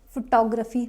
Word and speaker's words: photography: next word is photography photography not photography some people call it photography because of this word this is photograph here first syllable is stressed photograph but in this